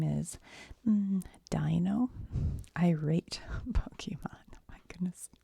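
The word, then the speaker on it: Deino: Dino.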